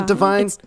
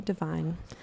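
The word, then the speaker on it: Devine: him go ad is divine I think it's divine okay cuz it's it's pronounced the same way as line like Adam livine and so people get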